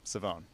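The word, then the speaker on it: Shavon: my name right but s h a v o n is somehow pronounced saone saone yeah yeah yeah M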